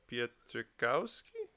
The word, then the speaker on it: Pietrkowski: And we're also joined by Harry Stafilakis, who is composer and producer on the album, and Adam Pietrkowski. Did I say it right? Sure.